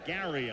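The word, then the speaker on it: Gerry: Gary Ellis, and that is the way he pronounces it, even though he spells it G-E-R-R-Y. It's Gary Ellis, and he's been here for 7 years now.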